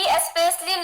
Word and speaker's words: especially: He especially lost to life.